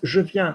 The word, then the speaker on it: je viens: How do I pronounce je viens?